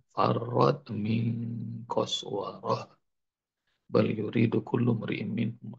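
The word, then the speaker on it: قسورة: Farad min qaswara. Lari dari mana? Lari dari seekor singa. Ya bunda kalau ada tak marbutoh di ujung-ujung, bacanya itu hak, haknya hak besar. Umurum mustanfirah. Haknya kedengaran. Farad min qaswarah.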